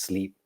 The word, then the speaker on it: Sliiip: It's spelled S-L, triple I, P, but pronounced sleep.